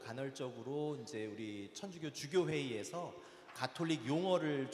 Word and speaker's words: 가톨릭: 천주교 용어 집의 정식은 가톨릭 있니다 카톨릭이 아니라 가톨릭 그래서 저는 이제 의문이에요